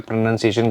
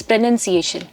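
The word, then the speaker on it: pronunciation: Container बहुत अलग-अलग words को अलग-अलग प्रोनंसिएशन को प्रोनाउंसिएशन बोलते हैं। वो बहुत गलत होता है। इट्स प्रोनंसिएशन। बिल्कुल।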